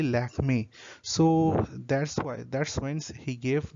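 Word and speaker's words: Lakmé: came goddess Lakshmi, and the French pronunciation of Lakshmi was actually Lakme.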